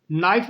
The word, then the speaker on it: knife: नाइफ में के silent होता है और ये बोला नहीं जाता, लिखा ज़रूर जाता है।